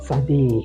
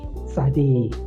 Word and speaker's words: Tsade: But in terms of pronunciation, is T and S we must pronounce together.